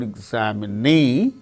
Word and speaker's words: examinee: In the case of the word examine, second syllable gains stress. In the case of the word examinee, examinee, fourth syllable gains stress.